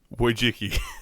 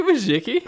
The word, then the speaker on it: Wojcicki: It's actually Wojcicki. Susan Wojcicki. I feel like there's more syllables in there than need to be. Some people, she's responded to anybody that gets it roughly right, but the canonized last name for her is Wojcicki, but people call her